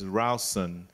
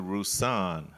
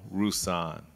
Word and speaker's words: Rouson: say if we were in North Carolina, you'd pronounce that right. It's Rouson. But my mother, who was Creole, met my father at Xavier, and she convinced him to change the pronunciation to Rouson.